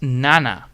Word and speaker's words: 七: Pronounced Nana.